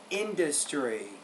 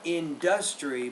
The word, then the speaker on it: industry: stable out see the word industry usually not industry but industry the stress on the first syllable there okay let's read